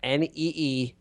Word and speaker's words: Nigar: They said NEE-GAAR, which sounds like it'll come out wrong.